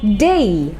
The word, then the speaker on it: Day: মুভির নাম দিন দ্য ডে, এখানে কিন্তু একটু উচ্চারণ আমরা চাইলে শুদ্ধ করে বলতে পারি, একটু ভালো করে বলতে পারি। এই যে আমাদের শেষে DAY রয়েছে, এটাকে আমরা ডে না বলে বলবো ডেই।